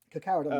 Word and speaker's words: Carcharodon: Like, read some of the Carcharodon novels. Although I'm never sure if I'm pronouncing that right. Carcharodon is Um, correct. yeah, when they kind of